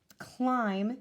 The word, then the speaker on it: climb: the G and blend climb silent B at the end and no with the